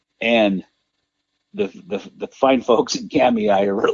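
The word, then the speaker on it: Kamiah: That's another one that always gets mispronounced, Kamei. I mispronounce it all the time. Oh, yeah, Kamaya or whatever.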